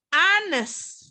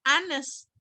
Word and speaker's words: honest: Yang ini, honest. Cara bacanya adalah honest. Vokal atau konsonan? Vokal. Makanya dia N.